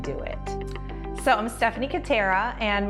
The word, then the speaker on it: Kutterer: So I'm Stephanie Kutterer, and my last name kind of rhymes with doTERRA.